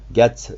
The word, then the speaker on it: Gatz: merci à toi aussi laurent gatz gâte ça s'écrit j'ai hâte et z chanteur auteur compositeur interprète